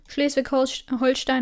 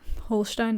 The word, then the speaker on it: Holstein: So, first of of course some general facts as always Holstein of course not Holstein that is the English pronunciation is very much located in the north.